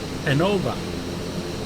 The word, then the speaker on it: Genova: Today we are in Genoa or Genova or Genoa, however you want to pronounce that, in Italy, and we are in the P180 Piaggio Avanti.